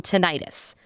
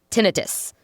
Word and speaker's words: tinnitus: Natalie Crossland, an audiologist who specializes in tinnitus or tinnitus. Either pronunciation is fine, she has assured me.